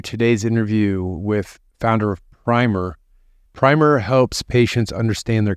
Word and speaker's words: PRIMR: in case I embarrass myself anymore did I pronounce everything correctly including primer your name you did you got it all right I I've heard some people say primer I think that's more like the British way